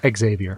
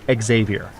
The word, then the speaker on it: Xavier: Xavier. Another ghost in the wind. 4 syllables.